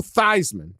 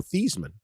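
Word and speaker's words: Theismann: at Notre Dameon they he used to pronounce his name Joe theeman and they as part of the Heisman campaign they changed his the saying of his name this is a prominent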